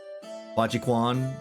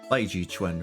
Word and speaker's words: Bajiquan: There's always been like one specific martial art I was always interested in was Bajiquan. It's not pronounced that way in Chinese, it's like Baiji Chuan or something like that.